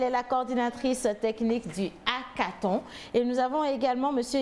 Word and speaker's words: hackathon: Déjà, comment on prononce hackathon ou hackathon ou hackathon? Hackathon. Voilà. Ok, merci. Merci de nous recevoir. Un plaisir. C'est hackathon, le H muet.